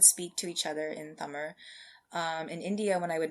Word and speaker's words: Tamil: Tamil, so Tamil, spelled Tamil, but pronounced Tamil.